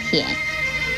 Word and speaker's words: 腆: 舔字的国语注音是 t 言舔三声舔，舔三声舔。